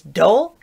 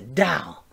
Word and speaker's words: doll: of it it's toll put a d in front of it it's dole no no no it's a doll and that's where that